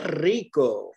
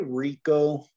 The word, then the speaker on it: rico: in spanish you'd say que rico with that exaggerated r sound up front right uh most english speakers learning spanish would just say que rico right but it's a lot more fun and a lot more accurate if you can actually roll the aura rico do you know